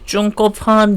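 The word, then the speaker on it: 曾國藩: 중국본이라고 하는 사람인데요음 그래서 얘 발음이 이제 증거판 정도 될 겁니다 증거판 그래서 리 홍장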